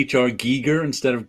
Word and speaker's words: Giger: so long to to learn to say hr giger instead of geiger and now when i say geiger i want